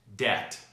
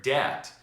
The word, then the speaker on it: debt: Debt, doubtful, doubt, subtle. As you can see in the word debt, the letter B comes before the letter T and is therefore silent.